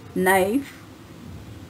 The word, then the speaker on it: knife: to the following words knife night K silent you listen castle toy